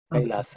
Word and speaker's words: Kailasa: For that sake, yes, your question is a valid one, but this is the right Sanskrit pronunciation, Kailasa.